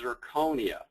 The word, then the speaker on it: zirconia: start with nomenclature uh it's amazing how many people say it wrong including myself what we're talking about is zirconia okay it's an oxide